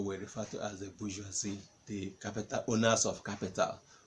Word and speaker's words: bourgeoisie: Can you pronounce that word? Bourgeoisie. Bourgeoisie. Bourgeoisie. No, Geo. Geoisie. The bourgeoisie.